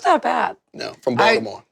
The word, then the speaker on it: Baltimore: No, from Baltimore. Baltimore.